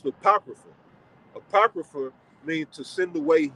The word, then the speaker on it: Apocrypha: supposed to be there right so that's that's pronounced the Apocrypha apocrypha mean to send away hidden all right